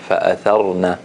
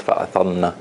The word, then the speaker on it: فأثرن: It's like you are kind of merging one letter into another. So we have to hear the ra clearly. فأثرنا, فأثرنا, not فأثرنا.